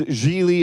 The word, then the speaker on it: Gigli: he explains early on my name is jeely at rhymes with really which so when I